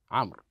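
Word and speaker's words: عمرو: هنا تزاد الواو خطا تزاد الواو خطا لا لفظا هنا الواو تاتي زائده فقط خطا لا لفظا في كلمه كلمه كلمه قلها عمر احسنت عمر هنا فقط الواو زائده في الخط لا تنطق لا تنطق وانما اتت الواو للتفرق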